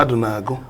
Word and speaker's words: Madunagu: Is that how to pronounce it? Madunagu.